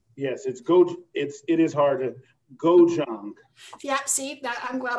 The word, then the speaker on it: gochujang: That's how when I looked it up, I certainly did not know how to pronounce it. they said gochujang.